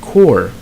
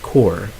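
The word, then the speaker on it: corps: So here we it should be this is a silent P also. A silent S and a silent P. So you only end your pronunciation at the letter R. Okay, you say core.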